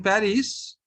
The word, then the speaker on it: Paris: No, so S is not pronounced.